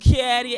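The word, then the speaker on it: Cattor: Your boy C-A-T-T-O-R pronounced Caddy.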